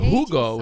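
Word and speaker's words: jugo: You say but Hugo spelled with a J.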